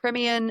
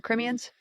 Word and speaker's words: Crimean: So Crimean, is it Crimean? The Crimeans? Crimean. Crimean Tatars. That's literally how it's said.